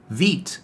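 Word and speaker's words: Vite: tested and used myself is Veet or vit however you want to pronounce it and what essentially is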